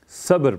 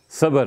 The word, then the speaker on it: صبر: بولنے میں تلفظ میں غلطی ہو گئی نا۔ صبر میں جو با آتی ہے اس پہ جزم ہے، صبر پڑھا کرتے ہیں، صبر نہیں۔ ٹھیک ہے نا؟